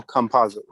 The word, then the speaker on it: Campazzo: How do you pronounce his last name? Facundo Campazzo.